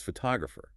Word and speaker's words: photographer: Another great multi-llable example is photographer. Four syllables. The main stress falls heavily on the second syllable.